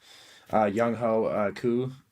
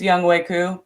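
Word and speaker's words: Younghoe Koo: Like I can't Young Ho Koo. I'm not sure. I just butchered his name, I'm sure, but Yeah, it was close. It's Young Wei Koo, but he's look, I butchered it.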